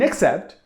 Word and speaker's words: except: Double C in English has 2 possible pronunciations. In except, it is pronounced like X, and in soccer, like K.